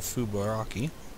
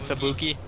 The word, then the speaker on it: Fubuki: Wonderful Fubaraki. Okay, totally butchered the name. You mean Fubuki?